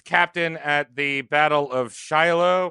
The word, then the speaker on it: Shiloh: at the Battle of Shiloh is that how you say it yeah oh Shiloh like the dog like the dog he